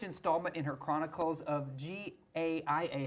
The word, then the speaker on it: Gaia: book the newest installment in her Chronicles of g a i a how do you say that Gaia Gaia there it is is joining us now